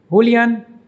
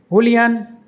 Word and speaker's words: Julián: The name of this Argentine footballer is pronounced Julián Álvarez. Julián Álvarez. Julián Álvarez. Julián Álvarez. The beginning is like J, not H. Julián. The emphasis is on the last syllable an.